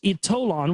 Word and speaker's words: Ytollan: The power of Ytollan, so it's pronounced Ytollan, was revealed to me during a spiritual hypnotherapy regression during which I experienced life in Atlantis.